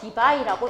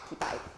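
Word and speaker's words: Debye: 쿨롬 곱하기 미터니까 D라고 쓰고 디바이라고 읽어주시면 돼요. 디바이.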